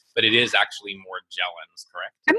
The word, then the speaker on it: Morgellons: hear people pronounce it Morgellons but it is actually more Gellin I'm not sure why some people say Morgellons it sort of surprises me because after all the Explorer Magellan very similar name we always say Magellan